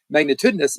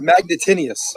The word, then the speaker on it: magnitudinous: Yeah, and with that being said, I said it right. I actually pronounced it properly. It is a word. I looked it up. I spelled it for you. I don't know what more you want me to do. You said magnitinius.